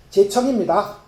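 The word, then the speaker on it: 諦聽: 이제 자세히 들으십시오 이랬어요 제 청입니다 자세할 제자를 을데 우리는 제로 읽어요 제로 읽는데 어 불교의 독특한 법이기도 합니다 법이라서 어 중국 발음에 가깝게 읽다 보니 제청으로 발음한 거예요 자세히 들으라 어떻게 자세히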